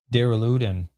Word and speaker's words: Duraludon: Duraludon.